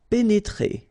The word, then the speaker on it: pénétrer: pénétrer. Okay, remember here, accent aigu and then accent aigu. So you pronounce it E.